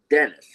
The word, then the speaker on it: Denis: a local meteorologist and his name is Denis and he pronounces it Dennis.